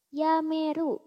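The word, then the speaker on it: 止める: Dia dibacanya jadi ya. Yameru artinya berhenti atau resign.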